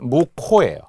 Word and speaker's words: 묵호: 자, 그래서 지명 이름 묵라는 곳에 묵호 분명 발음은 무호예요.